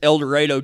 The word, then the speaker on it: El Dorado: And you know, like a lot of towns, you know, it's spelled El Dorado, but you can always tell who the new people are because that's how they pronounce it. But it's El Dorado, Texas.